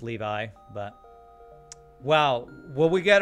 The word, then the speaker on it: Levi: Levi isn't it pronounced levy well if it's a biblical name at least in America it's pronounced Levi but well will we